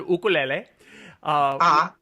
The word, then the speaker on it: ukulele: of bass ukulele and I pronounce it as the Hawaiians do because they call it an oh cool la ah which which means jumping